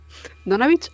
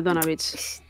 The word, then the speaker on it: Donavich: ¿Donavich o Donavic? Yo estoy diciendo Donavic. Todos los que habéis oído pronunciarlo hasta ahora lo han pronunciado Donavich. Vale, Donavich.